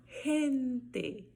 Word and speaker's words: gente: G antes de E, som de R. Eu vou falar gente, gente. Olha o E final também prevalecendo aí com o som de E. Gente. Repitam aí comigo. Gente.